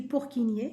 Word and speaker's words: Purkinje: Donc, ça s'écrit Purkinje, mais ça se lit Purkinje, les cellules de Purkinje.